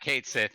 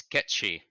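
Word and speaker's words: Cait Sith: So I discovered it's not Kate Sith, it's Ketchi.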